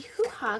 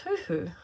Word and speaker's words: huhu: grubs how many tasty hoo-ha gloves can you find her isn't that how you say it no it's huhu who grabs can you